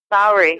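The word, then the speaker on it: Māori: First of all, we should ask you how to pronounce it. Maori. Maori?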